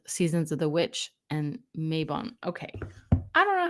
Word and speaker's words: Mabon: It's called Seasons of the Witch and Mayabon. Okay. I don't know how to pronounce that, so we're going to look it up right now. Okay. How to pronounce Okay, Maven. Okay. All right. Maven it is.